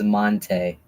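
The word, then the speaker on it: Mante: Do you want to pronounce your name again? My name is Monte Monte.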